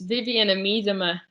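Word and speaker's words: Vivianne Miedema: with the uh pronunciation it's vivienne amidama i got come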